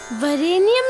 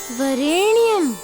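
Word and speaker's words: वरेण्यम्: दो बोलो तत्सवितुरवरेणियम तत्सवितुरवरेणियम वरेनियम नहीं वरेणियम अरे प्रचेति बोलो भाई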